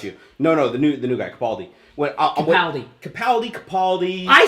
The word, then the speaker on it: Capaldi: No, the new guy, Capaldi.